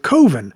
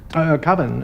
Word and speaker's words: Coven: previous short film titled Coven, and don't try to correct him about the pronunciation. What else could it be pronounced? Coven, that's the proper pronunciation. No. Coven, no. Coven sounds like oven, man.